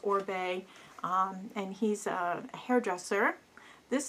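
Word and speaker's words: Oribe: of the bin was or Bay or reap I don't know how you want to say but I believe it's pronounced or Bay and he's a hairdresser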